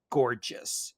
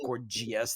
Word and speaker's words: Gorgias: So now these sophists, my favorite sophist of all time was this guy named Gorgias. He's sometimes pronounced Gorgias. That's how it's spelled, but I prefer Gorgias because he was.